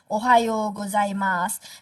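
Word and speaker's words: おはようございます: okay so maybe can practice by your own Ohio gozaimasu the last so you don't pronounce it so not Ohio gozaimashu the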